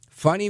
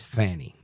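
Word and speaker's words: Fani: So, adios to funny Willis. Now, and her name is Fanny, but she pronounces it funny. So, I call her Funny.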